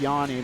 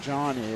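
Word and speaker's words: Jani: it's just pronounced yeah it's like that Yanni the musician also spell it with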